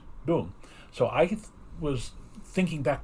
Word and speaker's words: Deng: was now pronounced as Dung, like D-U-N-G, Mao Zedong. The guy who followed him was Deng Xiaoping. Even though the name was spelled D-E-N-G, it was pronounced Dung.